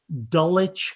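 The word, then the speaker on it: Dulwich: as a question right it was actually dullitch college which geocaching english idiosyncrasy is spelled dull witch l-w-i-c-h very good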